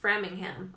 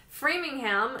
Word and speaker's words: Framingham: thing going around Oh framing him I'm sorry I totally mispronounced that the first time I said Farming him misread it Framingham community when one person